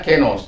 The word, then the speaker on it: kainos: Allah mau melakukan, kalau orang bilang dalam bacaannya adalah kainos. Kainos itu bacanya kenos, ya.